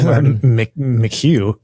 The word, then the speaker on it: McHugh: Did I pronounce that last name correctly? Mchugh Mchu.